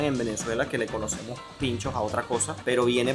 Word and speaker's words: pintxos: Está bien decir pinchos, aunque ustedes lo vieron escrito allí con X, la pronunciación es igual que como nosotros la conocemos.